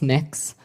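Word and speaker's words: Mx.: Cameron tell me what you're you're proposing it's pronounced mix um mix is that how you how would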